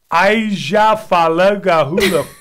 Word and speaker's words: Eyjafjallajökull: Okay, I'm going to go with Eyjafjallajökull. That's weak. This is how you say it. Eyjafjallajökull.